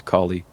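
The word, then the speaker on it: Kali: I'm pretty sure it's Callie.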